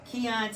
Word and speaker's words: Keon: I'm here with Keon, Talley, and Kelontae, Britten.